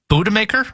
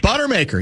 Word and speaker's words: Buttermaker: He's the beer guzzling manager, Coach Morris Budemaker? Oh, Buttermaker.